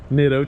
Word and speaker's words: Nitto: this to you guys rhymes with ditto schmeyers but it's nitto tires oh my gosh dude